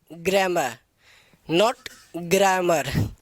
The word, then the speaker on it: grammar: What you call it? ग्रामर, नॉट ग्रामर। आप तक आज तक आपने कहीं भी गए होंगे तो वो कहता होगा सीधे ग्रामर पढ़ा रहा हूँ, तो ग्रामर नहीं होता है, इसकी रियल प्रोनाउंसिएशन होती है ग्रामर। क्या होती है? ग्रामर। इसमें जो ये आर होता है ये आर साउंडेड नहीं किया जाता।